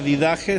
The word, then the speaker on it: Didache: estos escritos Qué significa didaje significa enseñanza viene de la palabra de algo didáctico eh okay se escribe así didache did con d did Che se pronuncia con j porque la ch va